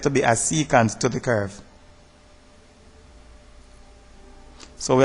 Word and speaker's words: secant: at secant and tangent some may pronounce it second my ancient mathematics teacher said secant and I'm using that word also so secant if a straight line